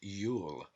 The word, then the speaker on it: Iul: One of these names for Jew is Iul, pronounced Yule.